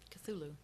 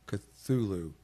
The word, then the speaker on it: Cthulhu: Cthulhu. Cthulhu.